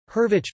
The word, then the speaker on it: Hurwicz: Leonid Leo hurvich polish pronunciation L observe it August 21st 1917 -